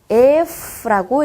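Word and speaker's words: Ф: 자, 2번 알파벳, 2번 철자는요, F라고 읽어주시면 됩니다. F. 영어의 F 생각하시면 돼요. F. 치아와 입술이 닿아서 만들어지는 소리입니다.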